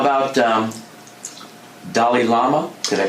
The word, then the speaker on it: Dalai Lama: How about Dalai Lama? Did I pronounce that correctly? The Dalai Lama.